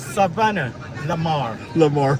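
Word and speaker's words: Savanna-la-Mar: Break it up in syllables. Yeah, Saba. Sabanalamar. Sabanalamar. You got a Savannah in Georgia. What are you talking about, man? This guy. It's Savannah Lamar.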